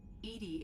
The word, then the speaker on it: EDI: are you named edie edie is the phonetic pronunciation of edi that is an acronym for enhanced defense intelligence how are you getting